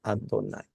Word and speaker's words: Adonay: es el tetragrama no el tetragrama es cambiado por adonay señor o se se pronuncia adonay vamos a concluir Pues